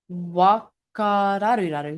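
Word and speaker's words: whakararuraru: Wakararuraru? Wakararuraru, yeah. How do you spell it?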